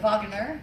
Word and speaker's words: Wegener: He's actually pronounced Wagner, right?